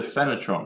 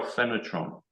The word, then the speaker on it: PHANOTRON: How do we spell PHANOTRON? It's PH, which by some quirk in English is pronounced F.